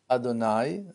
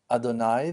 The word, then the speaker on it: Adonai: as we call him Adonai that's the way that we pronounce this name even though that in